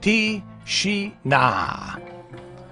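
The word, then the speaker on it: тишина: Just say Tishina. Just say tea. Say together tea, like a tea, drinking tea, and then she is her. So Tishina. Tishina. No, Tishina.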